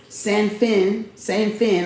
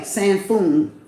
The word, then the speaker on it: Zhang Sanfeng: by a monk named Zhang, Z-H-A-N-G, Sanfeng, like feng shui, Sanfeng, S-A-N-F-E-N-G, if I'm pronouncing that right, who has been banished to this mountain for causing violence and doing wrong.